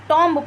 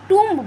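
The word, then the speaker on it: tomb: लेकिन it's actually ओ पे ज्यादा वो है। तो इसको टब बोला जाता है। टब का मतलब होता है मकबरा। ठीक है? तो कॉम्ब एक कंघी है और टब एक मकबरा है। आप टॉमब नहीं कह देंगे। टंब कहा जाएगा उसको।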